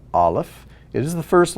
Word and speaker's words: aleph: letter at the bottom so the aleph makes no sound it is silent but if there's a vowel attached to it you just simply make that vowel sound okay let's get back